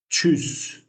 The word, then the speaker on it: Tschüss: Tschüss. Tschüss. This sound we talked about U sound umlaut. So, t sh together becomes ch like Tschüss.